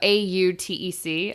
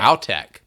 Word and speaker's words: AUTEC: No, AUTEC. I don't know that they hit that ow that hard, but, you know, if you're going to put it out there, hit it. ALTEC.